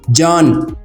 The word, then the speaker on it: Can: I'm very sure that one question is popping in your mind that it's Can, not Can. Let me make it very clear. In Turkish language, it will be pronounced as Can.